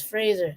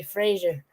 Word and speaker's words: Fraser: I'm like they're like how do you pronounce the name Frasier or Fraser he says Fraser and they go out and they say Frasier thank you I said